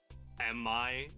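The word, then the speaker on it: EMMI: made me realize that the Emmy are constantly mispronounced and I think it's like officially pronounced like am I in game yeah no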